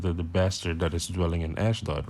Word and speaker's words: Ashdod: bastard shall dwell in ashdod and i will cut off the pride of the philistines con so let's go where is ash dot exactly ashdod ashdod or ashd arabic pronunciation is the sixth largest